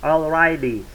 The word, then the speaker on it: alrighty: It sounds like already, but it's not already. It's alrighty. But kind of like, do you hear that subtle difference in pronunciation, like alrighty, alrighty, alright, alright, alrighty, and already is different.